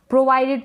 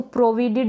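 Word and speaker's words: provided: प्रोवाइडेड पढ़ेंगे, इसको प्रोविडेड नहीं पढ़ें, प्रोविडेड का कोई मीन नहीं होता है।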